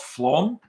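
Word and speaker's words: Flåm: think it was in um a place called Flom yes that that's how they pronounce it FL and um we took a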